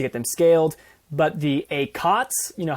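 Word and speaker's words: ACoTS: i say i'm gonna i decided i'm gonna accent i'm gonna change the accent on the syllable so a a cos acts on the first syllable is is a add cost of sales a cots if i emphasize that t in there on the second syllable um but yeah with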